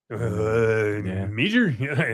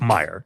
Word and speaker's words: Meijer: He goes, how do you say that? Meager? No, it's Meyer.